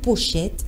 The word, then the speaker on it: pochette: ou en tissu donc il faut que nous puissions bien prononcer ce mot c'est le mot pochette et non procède vraiment surtout pour le téléphone les gens disent toujours projet ta téléphone tout à fait vraiment dites et non prochain comment vous avez l'habitude